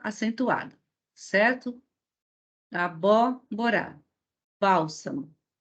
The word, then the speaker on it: bálsamo: Bálsamo. Também, olha, essa é a sílaba tônica.